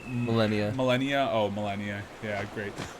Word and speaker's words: Malenia: Was But, like- was Malenia? How do you say her name? Malenia.